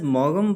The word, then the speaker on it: Maugham: It has been written as Maugham, but it is pronounced as Maugham.